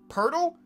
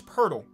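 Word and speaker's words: Pöltl: someone's name on purpose but i'm so used to saying purdle that i don't even think about changing and i think it's pertl i don't know am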